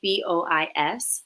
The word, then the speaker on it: Dubois: Everything is correct, but because there's an E at the end, for like the name Dubois, it's Bois. So you don't pronounce the S, but because there's an E after the S in my name, you would say D'Amboise.